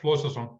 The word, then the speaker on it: Flosason: Thor Flosason. Let me know if I pronounce it right. You got it, Flosason.